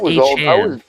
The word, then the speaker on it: Achane: I don't know, but now how are we supposed to do the choo-choo if his name ain't pronounced Achane? It's Achane.